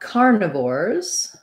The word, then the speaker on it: carnivores: the same vore's ending for carnivores we have first syllable stress this dip is the diphthong r like in the word r or car karna so thinking about it you could write car and this i is